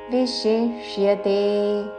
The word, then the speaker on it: విశిష్యతే: విశిష్యతే, వి పక్కన తాళవ్యషి, దాని తరువాత మూర్ధన్య షాకి యావత్తు. విశిష్యతే, జ్ఞానాధ్యానం విశిష్యతే.